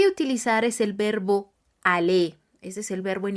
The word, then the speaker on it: aller: lo que voy a utilizar es el verbo Ale Ese es el verbo en infinitivo a l